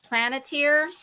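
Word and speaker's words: Palantir: he has another company it's called plant plant planeter it's kind of hard to pronounce um p a l a n t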